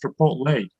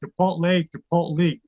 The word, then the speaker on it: Chipotle: And my son always corrects me, said, Dad, it's pronounced Chipotle. I said, great, this kid got a 40 on the Spanish regions. He's telling me how to correct it. All I know is Chipotle.